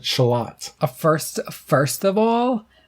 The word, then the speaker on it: Charlotte: pronounce charie and tones tones that are spelled Charlotte and you pronounce it shalot a first first of